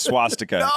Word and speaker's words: swastika: go he can't pronounce swastika oh you missed that you were gone swastika you're adding a whole sound yes you're adding an sch before the w yeah you also you